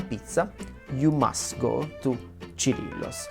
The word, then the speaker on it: Cirillo's: And then pizza place number 1 to me is for sure Cirillo's, or Cirillo's according to the English pronunciation.